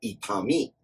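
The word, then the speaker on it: 痛み: As a noun, itami. And the onyomi, which is the traditional or original Chinese pronunciation of this kanji, is tsu.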